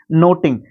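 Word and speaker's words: knotting: पहले करसन कैरोसिन मुक्त नोटिंग जब भी के के बाद एन आता है तो आपका जो के है ना वो साइलेंट रहता है मतलब अगले लेटर से पढ़ा जाता है उसको ठीक है नोटिंग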